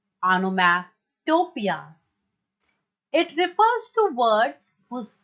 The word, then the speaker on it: onomatopoeia: Pronunciation है इसका ऑनोमैटोपिया, ऑनोमैटोपिया।